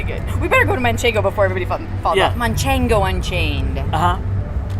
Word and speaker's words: manchego: uh-huh manchego yeah so for whatever reason everybody calls manchego manchingo yeah where did that come from that's the most um mispronounced cheese name i i think is munchango no manchego so i thought it'd